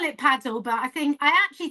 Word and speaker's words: padel: I call it paddle, but I think I actually think it is padell, but I call it paddle. Paddle. or if you're posh pedel.